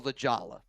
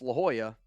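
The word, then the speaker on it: La Jolla: at the time and I saw I go Ljala. That's exactly how I pronounce it in my head. Um but it's La Hoya and there's like a bunch of seals there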